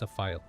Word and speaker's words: Zlephiel: Because eventually, when I figure it out, this name is actually pronounced Sapphire with the L. Okay? It's supposed to be pronounced as Sapphire as the L. So it's Zlephiel.